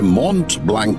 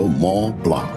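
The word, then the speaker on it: Mont Blanc: তা পাবো, তবে মন্ট ব্ল্যাঙ্ক নয় লালমোহন বাবু। এখন ইউরোপে এসেছেন, এখানকার দ্রষ্টব্যগুলোর নামের উচ্চারণ ঠিক করে করতে শিখুন। ওটা হলো ম প্লা।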